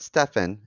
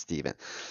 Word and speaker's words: Stephen: Not Stefan. It's Stephen. It's true. We talked about this last week. It's spelled with a PH, but it's pronounced Steven.